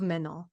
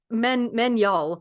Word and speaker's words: Magnol: Joseph Pitton de Tournefort was a pupil of Menol. That sounds like Menol. fucking Menol. Yeah. Yeah. It's pronounced Menyol.